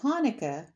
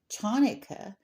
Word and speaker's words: Hanukkah: Well, Hanukkah is the same way. A lot of people say Chanukah, because sometimes the C is added in front of the H. And we don't say it like ch in English, or they don't say